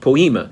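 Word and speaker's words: ποίημα: That word workmanship means, is a Greek word pronounced poema.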